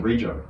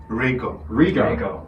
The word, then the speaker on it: Rego: How do I pronounce his surname? Rego. Rego. I've actually never asked that before. No, neither. Rego.